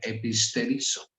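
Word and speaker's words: ἐπιστηρίζω: Para animar se pone esa palabra que se pronuncia episterizo, animar, y viene de episte, creer, animar, hacerlos creer más, establecerlos.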